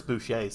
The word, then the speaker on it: Boucher: So there's only so much editing I Because can like do to Trevor, realize you I still don't remember like that Chris Boucher's name and how to say it as Boucher.